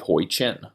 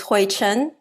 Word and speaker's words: Hui-chin: So just so folks know, you gave me the Americanized pronunciation of your name. I will let you say the correct way because it's always embarrassing when I can't pronounce someone's name. That's too bad. You were practicing. Now you just want me to say it. Okay, my name is Hui-chin. It's Huichin.